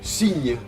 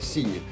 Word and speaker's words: signe: Bueno, para empezar, en francés no existe la letra ñ, como os habéis podido dar cuenta. En cambio, sí existe GN, ¿vale? GN es ñ, es muy parecido a ñ, son ñ, ¿vale? ñ, como por ejemplo dans signe, un signe, fais-moi un signe de la main.